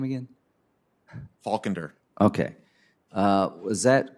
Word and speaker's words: Faulkender: Faulkender.